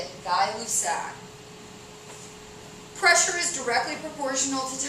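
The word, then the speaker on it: Gay-Lussac: fast dialous sac that's how you say it guy luck pressure is directly proportional to temperature meaning as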